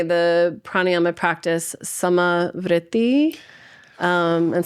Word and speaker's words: samavritti: I often say the pranayyama practice samai. Um and so sama's you know like same or uh you put a little roll on it.